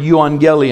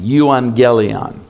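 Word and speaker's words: euangelion: of the gospel be it's a Greek word yuan gely and I'll spell it for you II you a n GE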